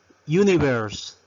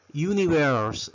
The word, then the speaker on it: universe: Universe. Universe. Recuerden, aquí está la R. ¿Cómo pronunciamos la R? No es universe. Es universe. Universe.